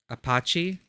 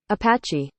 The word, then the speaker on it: Apache: tough looking Apachi sorry how do you pronounce that correctly Apachi Apache Apache thanks Google a portrait of a